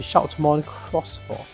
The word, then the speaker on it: Shoutmon X4: sense so Cross Four so I've been pronouncing it wrong for the first like 1 and a half minutes of this log already it's supposed to be Shon cross 4 now let's look at